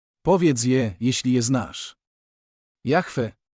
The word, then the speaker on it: Jahwe: Je Jeśli je znasz Jahwe dziecko wypowiedziało to imię zmiękczający i wydłużając pierwszą spółgłoskę A dlaczego modlimy się